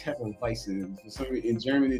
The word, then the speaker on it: Hefeweizen: Hefeweizen.